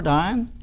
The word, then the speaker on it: Dion: USI welcome and Dr Robert Dion rhymes with lion and he was a